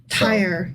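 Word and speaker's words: Tyre: But here that you're referring to is actually pronounced tire. Oh, I always get that wrong. Yeah, tire.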